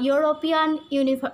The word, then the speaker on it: European: Okay, is France, you know, A, E, I, O, U are the vowels, and the word European begins with a vowel, but the sound is like U, that's why you have to use here a.